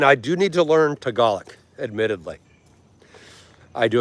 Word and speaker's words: Tagalog: In English, it looks like Tagalog, and I've seen people say that or heard them say that, and I'm like, okay, I get it phonetically, but it's Tagalog, not Tagalog.